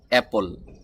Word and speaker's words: apple: তো এটাকে আমরা সঠিক উচ্চারণ করব অ্যাপল। বাংলা ভাষায় বলা হয় আপেল।